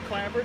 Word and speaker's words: clapboard: But it's commonly referred to as clabbered. Okay, yeah, because I've always said clabbered, but I didn't want to be that weird guy who pronounces it differently.